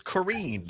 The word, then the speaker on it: Karine: I'm sorry I mispronounced your name. Zombies tells me it's Karine. Is that correct? Yes, you're good.